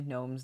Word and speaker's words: gnomes: hawk school says that it's actually gnomes the g is silent no you're recruiting little